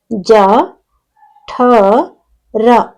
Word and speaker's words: ಜಠರ: ಒಂದು ಪದದಲ್ಲಿ ಇಲ್ನೋಡಿ ಇಲ್ಲಿಜ ಜ ಠ ರ ಜಠರ ಇಲ್ಲಿ ಮಹಾಪ್ರಾಣಾಕ್ಷರ ಯಾವುದು ಅಂದ್ರೆ ಠ ಜ ಠ ರ ಜಠರ ಓಕೆ ನೆಕ್ಸ್ಟ್ ಎರಡನೆದು ಮ